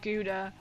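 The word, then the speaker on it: Gouda: See we as we call it guda a German pronunciation.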